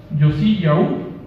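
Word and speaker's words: יאשיהו: Que en hebreo se dice Yosí Yaú, o sea, sí, Yaú, al final tiene que ser así, porque si no, los que somos nativos de allá, la pronunciación no podemos confundir.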